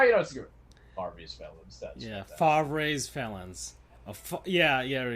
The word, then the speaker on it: Favre: Favre's felons. A Yeah. Yeah. There we go. Favver.